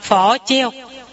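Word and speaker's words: 佛教: Còn Phật giáo cũng vậy, không đọc Phật giáo mà đọc là phỏ treo.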